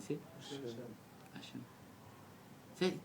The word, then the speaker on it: Hashem: ça sécrit et chin même comment ça se prononce etin même quelqu'un y sait hasem Hashem c'est t tous les gens ont dit Hashem